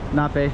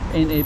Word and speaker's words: NAPE: is um towards zape this one will be like nape na a but I'll hear it be pronounced like nape it's actually acronym na a okay and then there's